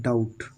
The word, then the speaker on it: doubt: देखो अब यहाँ पर जो आया है डाउट, डाउट आया DOUBT। अब जो डाउट है, डाउट में हमने यहाँ पर बी नहीं पढ़ी है।